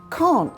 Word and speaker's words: can't: And in American, when you say I can't do it, can't sounds like can. That's right. I can't do it. So in American English, can is can and can't is can.